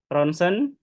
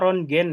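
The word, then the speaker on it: rontgen: Jangan ada lagi yang baca rongen ya. Ini anak-anak koas itu biasanya bacanya rongen. Jadi ketika disuruh baca ee artikel gitu dia bacanya rongen hasil rong gen gitu ya. Jadi ronsen ya tulisannya ronen bacanya community scan kemudian MRI.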